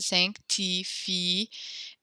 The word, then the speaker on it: sanctifié: So this last word, we pronounce the I here because it's not the last consonant, or it's not the last letter in the French word, so we do pronounce it sanctifie, and then, the E has an accent on it, so we do actually end up pronouncing it. So there's 2 syllables at the end here.